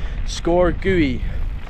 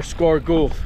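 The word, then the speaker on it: Sgòr Gaoith: one i've done before a score gui or score golf whichever way you say it i think it pronounced score gui yeah this was one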